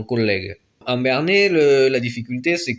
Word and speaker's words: collègue: En français, vous l'avez dans collègue, avec les deux L qui se prononcent vraiment collègue.